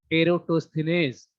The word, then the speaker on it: Eratosthenes: इसको पढ़ते हैं, थोड़ा प्रोनाउंसिएशन में प्रॉब्लम होती है इसलिए इसका हिंदी भी लिखा जा चुका है. Sieve of एरोटोस्थेनेज. ठीक है, सीब ऑफ एरोटोस्थेनेज, इसको ऐसे ही पढ़ते हैं.